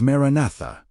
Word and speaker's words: Maranatha: One of these preserved words is Maranatha, pronounced Maranath, meaning come.